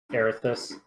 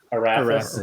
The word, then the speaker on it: Arathis: Erithus. Erithus. What was the correct pronunciation? Arathis.